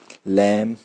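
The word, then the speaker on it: lamb: कि टॉम, com, Baum, लैम, क्लाइम, डम। इसमें बी की साउंड नहीं आई है, क्यों? बी साइलेंट था, क्यों? एम के बाद आया।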